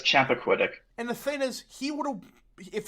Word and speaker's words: Chappaquiddick: I can't pronounce the name of the lake that it was. It's it's Chappaquiddick.